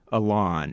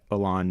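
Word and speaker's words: Ilan: course we mentioned and I'm not quite sure how to pronounce this guys first name I think it's a lawn it's it's IOA and he's got a plate Wyatt Alon Mitchell Smith it's an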